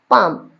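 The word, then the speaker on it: palm: है पी A sorry P ए एल एम और इसको पढ़ते क्या है पता है बच्चा इसको पढ़ते हैं पाम क्या पढ़ते हैं अपन पाम वैसे होना क्या चाहिए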